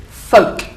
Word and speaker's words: folk: somewhere as well it's there's no l imagine the L is not there it's got an on the end if you like but it's folk folk very good and the